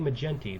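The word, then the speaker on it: McGinty: spelling for Katie menty so it's Mick Jen we know it's Jen because it's like 10 and then T so Katie mcent the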